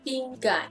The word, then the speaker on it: pinggan: Because gan, adding another G, then you know how to pronounce gang, and also leads to other meaning.